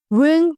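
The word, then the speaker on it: wring: एक कपड़े निचोड़ दो रिंग the cloth रिंग the cloth रिंग होता है निचोड़ ठीक है डब्लू इसका थोड़ा सा साइलेंट हो जाएगा इसने भी यही कहा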